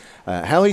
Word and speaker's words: Halle: stadium there we go it's spelled H al le so it's an interesting one halli Stadium in Memphis Tennessee and